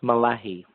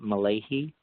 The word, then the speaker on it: Mullahy: My last name is pronounced Mullahy. So it's Mullahy. Yeah, Mullahy. I found a lot of people will pronounce it Mullahy, but that's why I didn't do it.